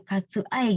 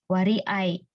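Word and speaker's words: 割合: Nah, di sini hati-hati ya minasang, di sini bacanya bukan katsu ai gitu ya. Nah, kalau di sini kan bungkatsu onyominya yang dibaca. Nah, ketika ini dibaca muyominya ya, wari ai.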